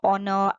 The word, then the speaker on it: honor: beginning with h but not sounded the h is silent so you will use and for all these words example an honor and are an honest man so before words